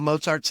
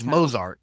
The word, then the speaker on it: Mozart: Keep on saying his name wrong. I want to say Mo. Why don't Mozart it's Mosart? Yeah, but most of us everybody they put a T in there or something. I don't know why.